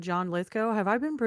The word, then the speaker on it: Lithgow: Because you guys have all said John Lithgow. Have I been mispronouncing his name my entire life? Like Lithgow, you've been saying?